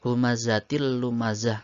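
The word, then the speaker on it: هُمَزَةٍ لُّمَزَةٍ: Memasukkan suara tanwin kepada huruf berikutnya yaitu huruf lam dengan tidak mendengung. Idgham bila gunnah hurufnya ada dua yaitu lam dan ro. Jadi membacanya dengan memasukkan tanpa mendengung. Humazatil lumazah, seperti itu.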